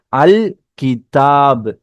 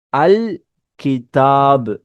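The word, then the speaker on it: الكتاب: அப்போ லாம நம்ம கம்பல்சரியா ஸ்பெல் பண்ணணும். அல் கிதாப், அல் கிதாப்.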